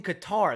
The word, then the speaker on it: Qatar: blew it um oh it's in it's in Qatar that's how you say it because the worlds